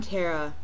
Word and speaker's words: Tara: someone who does but I'm Tara and I rhyme with Sarah and we could call